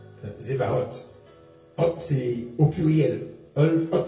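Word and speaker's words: צבאות: Alors ça se prononce ce genre de T qui se prononce presque comme un S, un Z. Zevaot.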